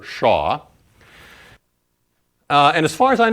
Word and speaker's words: Shah: So I want to use the notation here, let me write it down and then I'll pronounce it for you. This is called the Shah function or Shah distribution, really, of spacing p.